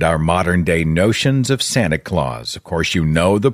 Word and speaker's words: Sinterklaas: netherlands by the way st nicholas is pronounced in dutch as santa claus and of course you